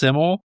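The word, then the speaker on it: SYML: So the artist Siml S Y ML is pronounced Siml. The name is a nod to the Welsh word for simple reflecting the artist's Welsh heritage.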